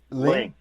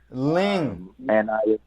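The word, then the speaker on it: Lyng: It's just L-Y-N-G. Ling. Ling. It probably shouldn't be pronounced like that. But that's the only way I've ever heard my family pronounce it, so that's what it is.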